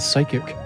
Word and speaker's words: psychic: it's like a it's it's like the the silent p and psychic oh that's right that's